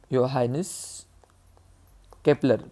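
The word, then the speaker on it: Johannes Kepler: scientist होता योहास Cape त्याच नाव अस लिहितात जे पासून योहानेस केपलर पण त्याच प्रोनन्सशन काय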